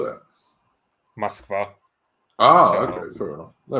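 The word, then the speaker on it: Москва: Moskva.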